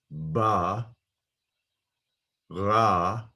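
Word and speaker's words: בָּרָא: he created we've got underneath the bait a comets underneath the rash we've got a comets so this is a closed uh syllable ba ra and the aleph is not pronounced it's only pronounced uh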